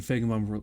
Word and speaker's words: Feigenbaum: The Fey and Feigenbaum rhymes with I.